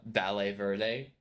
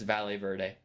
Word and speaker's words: Valle Verde: of all nightm definitely did not pronounce uh ballet Verde correctly it's Spanish I grew up in Arizona it's valet Verde but I got recommended